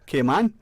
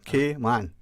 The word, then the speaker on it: Cayman: It's like a letter K. Okay. So phonetically, Cayman. M-A-N. Cayman.